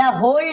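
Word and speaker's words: whole: द होल डे, मैंने आपको पहले बताया होल, इसमें डब्ल्यू साइलेंट होता है, केवल होल डे बोलेंगे, यानी जगतू पूरा अपना दिन, होल डे यानी पूरा दिन बिताया करता था।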